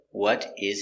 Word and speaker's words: what is: The T changes to a D because it's between two vowels. So it's would.